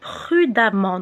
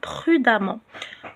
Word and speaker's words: prudemment: إذا كان l'adjectif تاعنا يخلص ent au masculin, on va enlever le ent et mettre le suffixe ement اللي ينطق amant. Donc, intelligent devient intelligemment. Prudent devient prudemment. Donc, حنا نكتبو E deuxième ENT بصح ننطقوه amant.